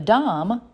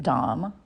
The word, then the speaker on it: Domme: A Domme, D-O-M-M-E, is the femme version. Some pronounce it Domme, some Domme. I pronounce it Domme.